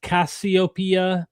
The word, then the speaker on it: Cassiopeia: Adam and Eve and the serpent equals Cepheus Cassiopeia.